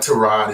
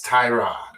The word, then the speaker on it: Tyrod: It's not Trod, it's Tyrod.